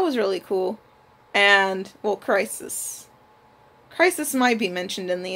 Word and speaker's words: Chrysis: Like, they introduce Chrysis, that's how you pronounce her name, Agamemnon's war price that, you know, starts the whole plague once Agamemnon refuses to give her back.